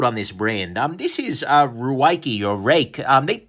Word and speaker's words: Ruike: This is Ruike or Rake. They swear to me that this is pronounced Rake.